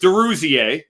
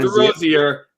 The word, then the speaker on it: DeRuzier: And it's pronounced DeRuzier. DeRuzier. Not DeRozier. DeRuzier.